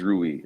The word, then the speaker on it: Rui: you know and obviously with the do we pronounce his name rui it is rui okay all right so with the acquisition of